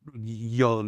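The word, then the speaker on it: Jung: And so it's uh uh it's spelled J Y O G but Young is pronounced This name Young was the uh uh the guy that that that created this.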